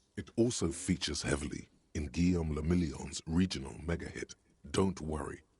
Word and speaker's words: Guillaume Lamillion: Guillaume Lamillion. Cara, nome da hora, hein? If it doesn't rhyme, you're not pronouncing it right.